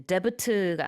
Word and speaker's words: debt: 자, 이 debt라는 게 D-E-B-T이죠. 근데 debt가 아니고요. 가운데 B는 묵음입니다. 그래서 debt 이렇게 발음하고 부채 천정이에요.